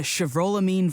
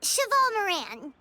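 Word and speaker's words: Chevalmarin: It's for the Chevrolamine Film Fantasyland. Wait, is that right? Your pronunciation could use some work, but yeah. It's Cheval Moran.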